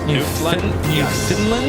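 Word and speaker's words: Newfoundland: the countdown 730 for new Funland Labrador St John's Mary's Harbor I've been told this pronounced new Funland New Finland I think you're right I don't know about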